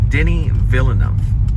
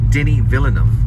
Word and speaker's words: Denis Villeneuve: his own way, but Denis Villeneuve, I think, is what I'm hearing. Villeneuve. And I have to remember that, Denis Villeneuve. But when you read it off the page, watch out. It won't come off as that. It looks different.